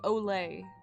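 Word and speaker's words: Olé: It's called Tokyo Mew Mew Olay. Like O-L-E with the accent.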